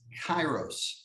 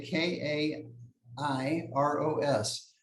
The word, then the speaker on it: kairos: word with a different meaning and that is kairos spelled with a k k a i r o s kairos now what is kairos cairo speaks to